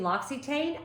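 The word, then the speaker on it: L'Occitane: Advent calendar uh don't give me grief about pronouncing Loxy Tain I looked it up that is how you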